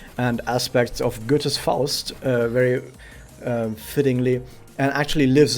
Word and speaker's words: Faust: write files i've read faust myself multiple times not just in school because i went to a german school of course i read faust and or forced as english people might uh pronounce it and the thing is